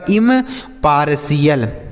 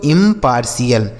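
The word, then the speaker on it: impartial: हो गया पार और टी आई एल का उच्चारण क्या हो गया सी एल यही लिखा गया आपका इम पार्शियल ठीक है इसे पढ़ा जाएगा दोस्तों इंपार्शियल आगे आर ई एस आई डी ई एन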